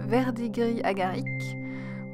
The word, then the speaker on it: verdigris agarique: And we are starting with the verdigris agarique, which, yes, I pronounced the French way.